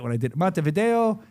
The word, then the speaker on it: Montevideo: Montevideo.